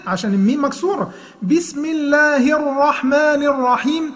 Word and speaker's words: الرحمن: تخلي بالك ما تبرزش شفتيك في كلمة الرحمن. ما تقولش بسم الله الرحمن كده يبقى بتعمل ايه؟ اشمام في الحرف ده. لا، انت تنطق زي ايه؟ لما بتقول واحد يا عبد الرحمن، تمام؟